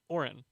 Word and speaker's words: Orin: and he was like it's orange without the G because it's in my last name actually it was funny Orin what did you what